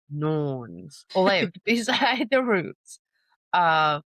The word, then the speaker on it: Norns: The Norns, not nuns, Norns, lived beside the roots of another word I can't pronounce.